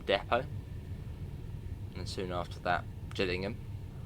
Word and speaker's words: Gillingham: and soon after that Gillingham not Gillingham I've heard I've heard it pronounced that before and I was like Gillingham I mean fair enough Gillingham if you don't know the area Gillingham Gillingham anyone guess